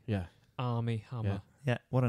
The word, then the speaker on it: Armie: three times that army army hammer is the name of the actor yeah army they are mie AR M ie ie yeah pronounced like the army yeah army yeah what a name